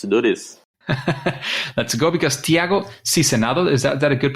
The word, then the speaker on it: Tiago Sizenando: Let's go, because Tiago Sizenando, is that a good pronunciation?